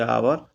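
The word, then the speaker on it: hour: लेकिन कई शब्दों में यह मुख यानी साइलेंट रहता है, जैसे आवर, ऑनेस्ट आदि।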